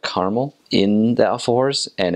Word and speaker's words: alfajor: There's another food that they have there, it's called the alfajor. That's spelled Alfajor. And so that's just how they pronounce it in Spanish.